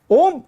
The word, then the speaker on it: ओम: ओम शब्द का जब उच्चारण करते हैं तो ओम में पहले ओ, फिर हमिंग नॉइस में म बोलते हैं।